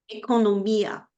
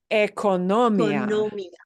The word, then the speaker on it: economía: So because the accent is there with the I, otherwise it would have been economia. Economia, but that is not the way the word is pronounced. So the word is pronounced as economía.